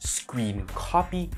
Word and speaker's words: scrcpy: Pronounced Scrcpy, this free and open source program by Genymotion requires only a USB cable and software installation on your PC.